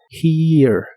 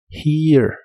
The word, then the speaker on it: here: here que significa aquí la H se pronuncia como una J suave después va un sonido de I largo y luego solo un